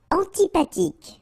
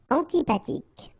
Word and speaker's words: antipathique: Antipathique. So remember, this H doesn't exist phonetically, so antipathique. Okay, final E, not pronounced. Antipathique.